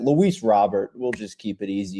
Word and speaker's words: Robert: It is Luis Robert, technically, but I guarantee people are not going to say that. Luis Robert, we'll just keep it easy here.